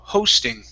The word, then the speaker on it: hosting: was it was close so instead of going to an ah go right to an o so oh ho hosting there you go okay one more time